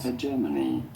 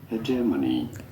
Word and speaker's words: hegemony: Hegemony. You do want to stress on the second syllable, the J syllable. Hegemony.